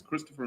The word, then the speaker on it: Kristoffer: How do you pronounce Kristoffer? It's Kristoffer.